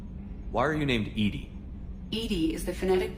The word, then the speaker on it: EDI: a specific inquiry why are you named Edie Edie is the phonetic pronunciation of e di that is an acronym